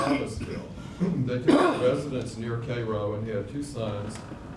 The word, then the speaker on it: Cairo: Vereen McNeil Bell was born in Cairo. Yes, that is the way we pronounce it.